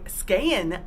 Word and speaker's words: Skagen: was in Denmark here we are docked in Skagen Denmark or as the Finish say scan Denmark rhymes with the praying you can see the cargo